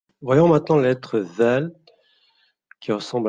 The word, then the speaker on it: ذ: Au niveau de la prononciation, en fait, on va placer le bout de sa langue entre les dents du haut et du bas, comme pour la lettre Fa, en fait. Et on va prononcer le mot Vel. Vel. Pour les personnes qui ont déjà pratiqué l'anglais, en fait, c'est pareil pour this, that, those, this, that, those, vel.